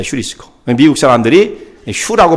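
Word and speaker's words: εὑρίσκω: 유리스코. 이 말이 원래 헬라어 발음 말하면 휴리스코입니다. 휴리스코.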